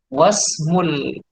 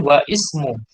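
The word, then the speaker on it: واسم: Wasmul binti wasmul binti Zainabu. Wasmul binti Zainabu. Kalau di sini ismul waladi Muhammadun. Kalau di sini wasmul binti Zainab. Langsung wasmu, tidak boleh wa ismu. Ya. Bacanya wasmu.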